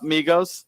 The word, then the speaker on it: Migos: This is Migos or Migos. I don't even know how to say his name. No, Migos. No, there are actually three of them, but yes, Migos.